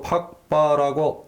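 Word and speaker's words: Phags-pa: 파스파 또는 저는 티베트어로 팍바라고 읽습니다만은 이 문자는 몽골의 5대 황제, 중국의 묘호로서는 세조라고 하는 후빌라이 한이 1269년에 만든 문자입니다.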